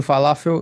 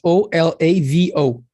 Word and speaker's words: Olavo: Pequeno falafel, não cometa os mesmos erros que eu cometi. Am I pronouncing the name right? Falafel? You're dead wrong. How do you pronounce it? It's O-L-A-V-O. Olavo.